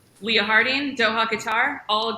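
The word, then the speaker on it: Qatar: right leah harding doha guitar all right yeah that's the kentucky coming out in me just as we talked about before a lot of people say cutter that's wrong okay okay i wanted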